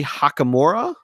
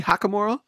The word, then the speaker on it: Hachimura: and Rui Hakamura. Am I pronouncing that right? I think you are. Rui Hakamura.